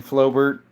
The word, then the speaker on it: Flobert: Uh, you don't pronounce that T in Flobert, but a French round.